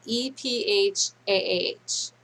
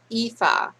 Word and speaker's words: ephah: It's spelled EPHAH. Ephah.